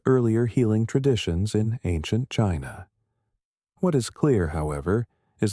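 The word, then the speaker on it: qi: At the core of Tauist medicine is the concept of ki, pronouncedq chi, the vital energy that flows through the body and all of nature.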